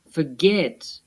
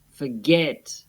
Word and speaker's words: forget: Begin, forget, submit. Listen to where the stress is again. Escuchemos dónde va el acento. Begin, forget, submit. The last syllables are stressed.